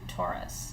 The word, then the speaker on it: torus: you about what's called the tube taurus and it's spelled t-o-r-u-s it's not like the ford taurus i always joke about